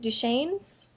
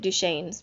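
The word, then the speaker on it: Duchannes: last name is it duan's yes because he says it one point in there that it rhymes with rain okay I was pronouncing it duan's but I just I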